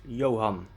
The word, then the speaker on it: Johan: his name a n the a is pronounced ah in dutch however when it's not